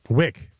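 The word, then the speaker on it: Wyc: It is spelled W-Y-C. Wick. Wick?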